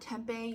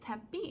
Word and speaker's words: Tempe: me kindly and said it's actually not tempeh yarn shop it's temp B it's pronounced temp B I did not know